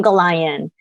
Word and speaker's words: Gollayan: mess up your last name but it's goldon how do you pronounce it that's close thanks it's h Goan go I um I'm a uh senior program